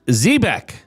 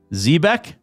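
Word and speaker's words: xebec: This is pronounced Zbeck. Zebeck. Zbeck.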